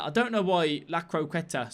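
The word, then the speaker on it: La Croqueta: I didn't do the Lacreta. I don't know why. Lacroqueta. Sorry, I keep saying the name wrong.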